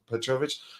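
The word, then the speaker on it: Petrović: I'm not sure I'm pronouncing his first name correctly, but I'm quite sure his last name is pronounced Petrovic.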